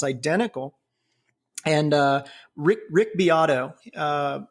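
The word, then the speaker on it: Beato: chorus it sounds identical and uh Rick Rick biato uh it's spelled it looks like beo b a t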